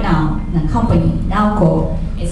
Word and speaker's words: Naoko: right now, the company, Naoko is how you say it, but it's spelled